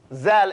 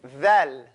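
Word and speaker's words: ذال: So, we're going to stop this zal and say thal.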